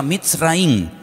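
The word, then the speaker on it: מצרים: país de Egipto, que en la Biblia se pronuncia Mitzraim.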